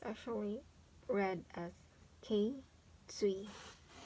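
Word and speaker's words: 頸椎: So it's actually read as K, Tsui.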